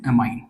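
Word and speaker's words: amine: हिंदी में एमीन बोलते हैं, इंग्लिश में प्रोनाउंस करते हैं अमाइन।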